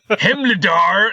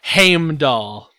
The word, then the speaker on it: Heimdall: Let's hear the pronunciation. Freyr. Sure. And Hemledar. No, I don't even. Anyway. Heimdall.